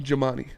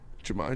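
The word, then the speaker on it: Jahmai: do you say it Jamani Jamani there's not even an end there though it's j a h m a i jamai Jones jamai Jones there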